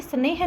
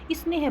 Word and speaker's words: स्नेह: इस कारण से यहां पर इ का उच्चारण होगा। तो हम इसे स्नेह ना पढ़ के स्नेह पढ़ेंगे।